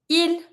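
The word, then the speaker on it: ils: you're going to be saying il with an S, il. But you don't pronounce the S either.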